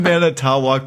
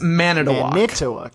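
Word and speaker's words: Manitowoc: We can't have mana towok because two woke. Is it manu? So you're overthinking the O's. Oh, so it's man at a walk.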